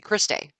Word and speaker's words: cristae: It's a second membrane, and it's called the cristae, or some people pronounce it Krista. It's Krista. I think it's when it's plural, and Christae when it's singular, but I'm not sure. But some people say Krista, some people say Christae.